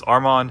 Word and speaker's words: Arman: My name is Arman. If you were to spell it the way you pronounce it, it's A-R-M-A-N.